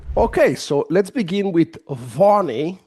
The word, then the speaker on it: Vani: Okay, so let's begin with Vani, right, David?